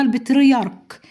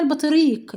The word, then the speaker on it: البطريرك: لسان البطاريق، هي اسمها البطريرك بنيامين. يعني اسمها ايه؟ البطريرك بنيامين. في كتير جدا بيقول لي مثل اسمها البطريق، لا يا حبايبي انا نطقتها هي اسمها البطريرك بنيامين نتيجة عدة إجراءات اتخذها المسلمون في مصر حدد هذه الإجراءات.